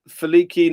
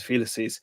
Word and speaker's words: felices: Felix rhymes with helix. Helix, plural, is felices because it is a third declension Latin noun, like Rex Regus. Therefore, the plural of Felix is felices or felices.